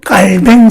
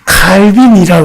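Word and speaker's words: Calvin: 우리 장로교회 정치자인 깔뱅 선생님, 옛날에는 영어 발음으로 해서 칼빈이라고 그랬는데 요즘은 이 깔뱅 선생님이 프랑스 사람이거든요. 그래서 프랑스 사람을 영어식으로 읽어야 되겠냐. 그래서 프랑스식으로 하자. 프랑스식으로 읽으면 깔뱅입니다.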